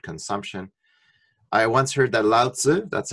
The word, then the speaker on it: Lao Tzu: love the word consumption I once heard that Lao Tzu that's how you say it in China let's